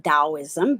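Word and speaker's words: Taoism: symbol is associated with taism or some people pronounce it dosm based on your dialect I am a I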